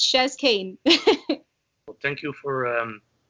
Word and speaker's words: Chez Kane: shares kane um yeah a lot of people mix that up they think it's like the french way shaking um yeah so i'm just chezz kane well thank you for